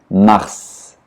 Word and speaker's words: mars: O S final em francês geralmente não se pronuncia, mas nesse caso se pronuncia mars.